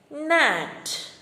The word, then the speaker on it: gnat: G silent words. Gnat, gnome, champagne, clone, camping, new, nav and nash.